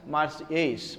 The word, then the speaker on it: Marseillaise: That is why their national anthem is known as Marseillaise. Marseillaise. L is silent.